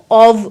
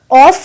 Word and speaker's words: of: कर सकते हैं कि आप ऑफ को ऑव बोलें, ब्रिटिश इंग्लिश के अकॉर्डिंग। ऑफ को ऑफ ना प्रोनाउंस करके आप ऑव प्रोनाउंस करें।